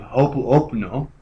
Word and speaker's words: Ho'oponopono: This is, of course, a sort of postmodern version of Ho'oponopono, which I don't think I pronounced correctly.